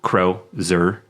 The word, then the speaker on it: crozier: In real life, a crozier, pronounced crow-zer, which I just realized I've been slightly mispronouncing this entire time.